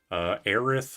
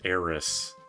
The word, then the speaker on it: Aerith: Aerith versus Eris. Like TH versus S. I know it's Aerith, like it's supposed to be air and earth, but I'm personally an Eris enjoyer with the S.